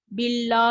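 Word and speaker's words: بالله: பிறகு, நாம் அதனுடன் இணையும்போது—அங்கே ஒரு ஷத்தா இருப்பதால், நாம் அதை இணைக்கிறோம்—ஆகவே, "பில்லோ, பில்லோ" என்று கூறி குரலை உயர்த்தாதீர்கள். 'அல்லாஹ்' என்ற வார்த்தையை உச்சரிப்பதற்கு ஒரு குறிப்பிட்ட விதி உள்ளது.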